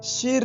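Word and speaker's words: 十: की Chinese pending है एस एच आई ध्यान दें यहां पर बोलते समय हमें आर को लगाना होता है परंतु लिखते समय और कभी भी नहीं लिखा जाता है आइए चीनी भाषा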